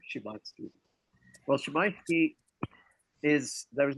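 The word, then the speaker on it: Szymanski: I have it on authority from a Polish speaker and that is how you say the name Shimitski.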